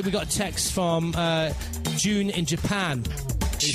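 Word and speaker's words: Jieun: And hi, we got a text from June in Japan. He said, June. Really, June? That really is her name. Like J-U-N, like June. No, it's spelled J-I-E-U-N.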